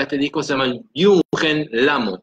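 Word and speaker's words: Lhamo: La autora de este disco se llama Yunhen Lamo, se escribe L-H-A-M-O, Lamo. ¿Ok?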